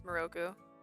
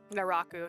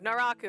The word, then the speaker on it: Naraku: inasa what's his name I thought that was maroku oh no no that's definitely him that's him who's the hot bad guy naaku there we go Naraku Naraku I just remembered how to say it right